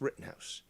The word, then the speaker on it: Rittenhouse: pulled the wire there mispronouncing it but it's written house kyle rittenhouse verdict so